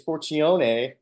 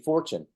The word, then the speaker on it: Fortune: my last name U everybody wants to say it's foron but but it's actually Fortune so oh I I